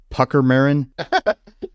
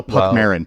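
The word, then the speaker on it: Puckmaren: thing is called a pucker marin oh no Puck Marin Puck Marin not pucker Marin Puck Marin Puck Maron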